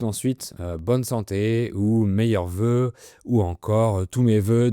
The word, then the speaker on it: vœu: “Bonne santé” ou “Meilleurs vœux” ou encore “Tous mes vœux de bonheur”, par exemple. Un vœu s’écrit “v-œ-u” et c’est la même prononciation que la conjugaison au présent du singulier du verbe vouloir “je veux, tu veux, elle veut”.